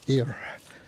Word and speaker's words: Ayr: It's a y r is how it's spelled. Air.